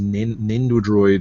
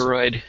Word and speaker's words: Nendoroid: I've heard them called eggheads before, but yeah, this is Nendodroid or whatever you call it. Nendo. Oh, I can't even pronounce it. Nendoroid? Yeah.